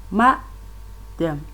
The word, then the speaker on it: madam: And on number 3, we have the word ma-dem. Ma-dem. The stress on the ma, that is the force is on the first level.